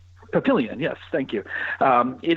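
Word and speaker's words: Papillion: Obviously, you know, Omaha, they play in the neighboring town actually of a I'm probably going to mispronounce it, but Pilion Pilion comparatively rural not Pilion.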